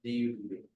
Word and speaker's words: Dubb: How do you spell it? D-U-B.